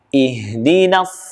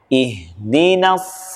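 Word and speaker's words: اهدنا: Beberapa kesalahan yang sering terjadi adalah tolong diperhatikan pada huruf H. H di sini pada kalimat ihdina itu tempat keluar hurufnya adalah di pangkal tenggorokan. Sama seperti huruf hamzah. Jadi tempatnya yang paling dalam. Sementara kasus yang sering terjadi adalah hurufnya berubah bukan H namun menjadi H.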